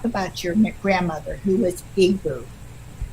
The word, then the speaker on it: Igbo: Yeah, so it's pronounced Igbo.